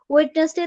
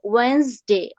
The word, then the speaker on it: Wednesday: আচ্ছা যাই হোক, এখন আমরা যে ওয়েডনেসডে, WEDNESDAY, ওয়েডনেসডে তুমি ব্রিটিশ বলো আমেরিকান বলো, এটা আমরা ওয়েডনেসডে বলি, যেটা কিনা ভুল। এটা হবে ওয়েন্সডে, ওয়েন্সডে, WENZ, Weil's, DAY, ডে, ওয়েন্সডে, WENZ, Weil's.